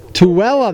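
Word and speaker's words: Tooele: a test of the T County warning system tuella that's how you say it I was wondering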